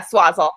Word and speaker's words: Swazzle: Yeah, Swazzle. Okay. What can you tell us about working for, let's start with working for Swazzle. Like what is that? What do you do? Well, Swazzle is a puppet company in LA.